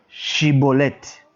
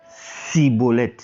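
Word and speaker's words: Schibboleth: ce test de prononciation il lui disait alors et bien dit chibolette et il disait si bolet car il ne pouvait pas bien prononcer donc on dit à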